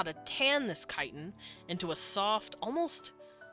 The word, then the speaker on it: chitin: Because they're spiders, the skin, the chitin, or the chitin, as I know some people pronounce it, has softened over the hundreds of years that they have been domesticated.